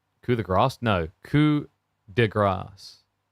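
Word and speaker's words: coup de grâce: It's French for killing blow or fatal blow. But it's spelled like coup de grace. But like a lot of people who aren't French misread it as coup de grace because the A has like a symbol above it.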